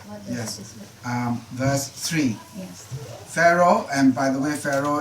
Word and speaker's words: Pharaoh: called came far okay and in English you pronounce it now as Pharaoh so Pharaoh will think